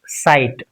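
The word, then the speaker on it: sight: s i g ht gh silent now it's site b r u gh ht It is the past participle form of bring.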